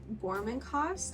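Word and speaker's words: Gormenghast: It is centered around Titus, who is a newborn that has been newly born into the castle of Gormencost, I believe is how you say it, which is the castle that all of our characters reside in this book.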